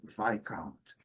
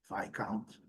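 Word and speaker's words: viscount: comentar sobre a palavra, a melhor pronúncia é essa, vai count. E a pronúncia é rigorosamente igual nas duas fonéticas da titânic e na americana. V count. Vai count.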